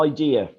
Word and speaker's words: idea: have a idea idea the emphasis is on the first seven syllables syllable so idea um where is it